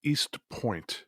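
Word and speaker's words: Eastpointe: It's now called East Point. Huh. Point is spelled Pointe. They throw that E in there.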